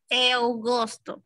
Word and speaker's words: eu gosto: A ver, ahí dice eu gosto, pero se pronuncia eu gosto.